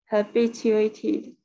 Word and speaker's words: habituated: Habituated. Yeah, habituated. Yeah, habituated. Yeah, the stress is on the B. Yeah, B. Habituated. Yeah, you did it.